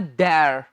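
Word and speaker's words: there: आओ लिखें, देयर आर, इसे देर नहीं कहना, इसे कहना है देयर।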